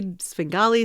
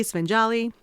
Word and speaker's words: Svengali: a writer and very accomplished why did you pronounce things wrong I don't get it buoyed Bowie spingali svenjali and lastly Greg says the scene with Elaine